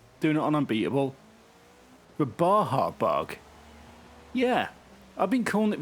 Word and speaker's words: Baja Bug: anti-climatic isn't it i'm gonna go for the badger bug or baja bug as i've recently found out it's pronounced 1969 a-class champ new tune this is